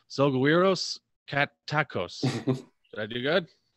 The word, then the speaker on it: Selgowiros: I've gotten Selgowiros. Where does the soft G come in? No, it's Selgowiros, Carantos, Kaitakos.